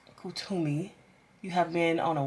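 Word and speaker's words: Kuthumi: Okay, I was pronouncing that wrong. Kutumi.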